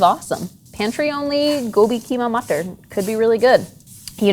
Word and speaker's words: matar: You know how my mom taught me how to pronounce the word matar, which is the joke, matar means pea in Hindi. How does a pea talk? It mutters.